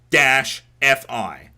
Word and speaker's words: Li-Fi: Lie-Fi. Okay. Like Wi-Fi, but with lie.